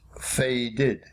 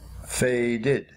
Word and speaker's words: faded: make the IDI past tense ending we write F a de D but it is pronounced faded faded faded T when verbs end in T like